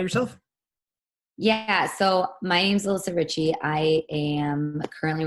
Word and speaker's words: Alyssa Ritchey: So you're Alyssa Ritchey. That's how you pronounce it, right?